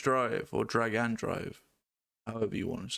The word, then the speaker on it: Drag x Drive: Drag X drive or drag and drive, however you want to say it.